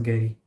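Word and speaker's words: Gery: him Jerry but then there is another person whose name is g-e-r-y and he is in the U.S and he pronounced his name as Gary yeah how's your weekend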